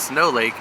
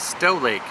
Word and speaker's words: Stow Lake: we found out that it is not snow lake it is stow lake so sorry for the